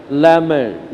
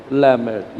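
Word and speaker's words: Lamed: ये एक अक्षर है, ये अक्षर का नाम है लैमेड। ये अक्षर का नाम क्या है? लैमेड। ये अक्षर का क्या नाम क्या है? लैमेड।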